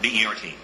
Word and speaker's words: Bert: B-E-R-T. And it is Bert, not Bernard or Bertram. It's Bert.